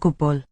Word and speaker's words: gwbl: With that epenthesis between the B and the L in the last word. Whoa. Dych chi'n bwyta siocled? Dim o gwbl. Gwbl. Matching the first syllable vowel.